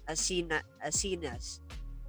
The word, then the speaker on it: Asinas: My guest, Asinas. Did I pronounce the last word properly?